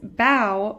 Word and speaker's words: bow: show in this sentence bow rhymes with how but in this sentence